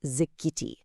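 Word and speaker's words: זכיתי: The word is zikiti, pronounced zikiti.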